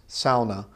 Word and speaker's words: sauna: what that is it's a lot of people say sauna but sauna is not actually the right way to say it's sauna sort of like sauerkraut SAU Sal so the you